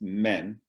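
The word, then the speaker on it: μέν: And so in the first part of a sentence, you put this one particle, which is pronounced men, M-E-N.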